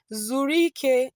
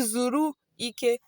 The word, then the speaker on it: zụrike: So, you don't When you deal with Igbo vowels, you sometimes you have to join the vowels together. So, you don't say zụrụ ike n'ime oge. Mhm mhm. You join the zụrụ and ike together. You say, zụrike n'ime oge.